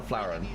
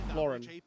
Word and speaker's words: Florin: Is it Florin or Flaurin? Florin. Florin. Okay. Florin.